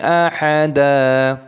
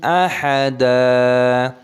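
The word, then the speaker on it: أحدا: Ma'allahi ahada, dalnya dibaca panjang, bukan ahadan tapi ahada.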